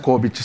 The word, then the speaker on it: COBIT: BPM é uma metodologia também da área de TI, da área de software, mas também temos o COBIT, tá certa a pronúncia? COBIT, sim, tá certa a pronúncia.